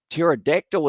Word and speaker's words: pterodactyl: And also we have got there, pterodactyl is a too confusing word. It is indeed, with the quiet P or the silent P as well.